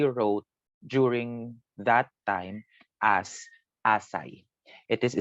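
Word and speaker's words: essais: texts that he wrote during that time as acai it is spelled like this as I was spelled like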